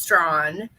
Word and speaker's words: Strong: i appreciate it yes the last name is pronounced strawn like there's a w in there yeah i know but